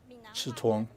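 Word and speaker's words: 刺桐: Quanzhou is also known as the Chitong. And that's how it's pronounced in the Fujian dialect.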